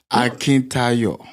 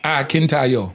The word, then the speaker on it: Akintayo: Tell me how to say it. Akintayo. Akintayo. Yeah, Akintayo. He told me to say it like I'm saying. Nigeria. He actually did well. Yeah, he did. Akintayo. Yes, Absolutely. He said, he told me, he tried to teach me to say it like I'm singing.